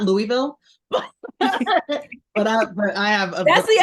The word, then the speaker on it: Louisville: So people know that there's a way Louisville here pronounce it. It's almost one. I say it's 1.5 syllables.